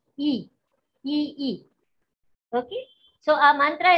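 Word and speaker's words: Yi: Y-I, but we pronounce it as E.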